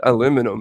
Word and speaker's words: aluminum: he cause it oh these guys call it aluminum and we call it aluminium but that's because that's how it's it's spelt it's spelled aluminium we we say it how it's spelt but you say but